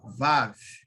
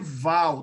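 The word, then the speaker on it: וָו: É Vav, ó, assim, ó, Vav. Não pode ser Val, tá? Eu vi uma pessoa pronunciando Val.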